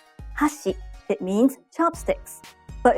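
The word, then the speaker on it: 箸: example if you say hasi it means Chopsticks but if you say hash it means Bridge let's hear the difference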